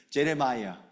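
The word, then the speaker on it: Jeremiah: 사실 예레미야를 이거를 한국말 스타일로 이걸 영어로만 하면 여러분들 예레미야 이름이 뭐냐면 제레마이아 들어보셨죠? 실제로 좀 발음이 다 달라요.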